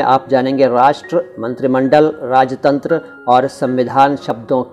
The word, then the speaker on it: राष्ट्र: राष्ट्र का सही उच्चारण राष्ट्र है, जो कि थोड़ा सा मुश्किल है, इसलिए हम लोग इसको राष्ट्र कह देते हैं।